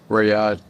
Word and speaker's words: Riyadh: How do you pronounce that? He flew in from Saudi Arabia. Yeah. Riyadh.